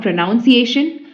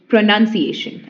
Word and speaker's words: pronunciation: word was pronounce words it is not pronunciation okay it is pronunciation and the other word is pronounce okay so the meaning